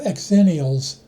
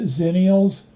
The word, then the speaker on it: Xennials: Between Gen X and millennials, you have exennials. Some people pronounce it zennials. I prefer it the other way, or it sounds too close to zillennials, who live at the intersection of millennials and Gen Z.